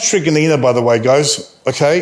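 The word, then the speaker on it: Truganina: postcode 3806 hoppers crossing tummy trigonina and it's pronounced trigonina by the way guys okay it's after an aboriginal elder okay it's it's just there's some weird pronunciation pronunciations of these suburbs but it's trigonina um 7972 then you have some regional towns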